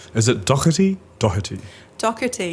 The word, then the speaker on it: Doherty: Doherty, yeah, it sounds like a K.